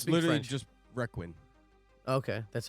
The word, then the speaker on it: requin: just Requin. Okay, that's how you pronounce I it.